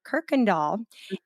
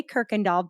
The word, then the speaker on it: Kuykendall: that is spelled yes it is dutch in origin and apparently you y